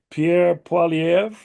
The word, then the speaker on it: Pierre Poilievre: I'm not sure how to pronounce his name, Pierre Poilievre.